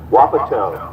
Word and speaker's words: Wapato: Kimberly in the left lane out of Wapato, Washington. And Heidi Lyman, Wapato. Okay, I stand corrected. Thank you. I've seen it a lot, I've never pronounced it.